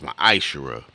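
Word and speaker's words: מעשר: 18:21 Malachi 3 8-1 it means 10th in the Hebrew and it's pronounced my isera a tenth of every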